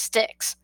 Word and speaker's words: Styx: It's pronounced Styx. Which it does not look like that's how it should be pronounced, but that's how it's